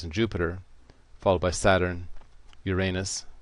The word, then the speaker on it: Uranus: Jupiter followed by Saturn Uranus sometimes pronounced Uranus and Neptune and what